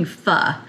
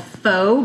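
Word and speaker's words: phở: back to my kitchen today we are making F often called foe by those who are not in the no pronunciation wise uh and this is a Vietnamese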